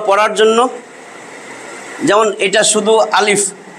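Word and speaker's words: ألف: জন্য যেমন এটা শুধু আলিফ পরিষ্কার করে বলতে হয় এটারে আলিফ আলিফ আলিফ একটু ফাঁক থাকবে আলিফ এরকম না কিন্তু আলিফ আলিফ আলিফ আলিফ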